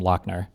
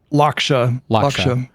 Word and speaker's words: Lakshya: Oh, this would be a good question for, I keep wanting to call him Lochner. What's his name? Say it again. Pronounce it again. Lakshya.